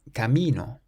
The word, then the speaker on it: camino: The next pair of words we have camino, which means a path or a road. So again, it ends in a vowel, meaning we stress the syllable before last, camino.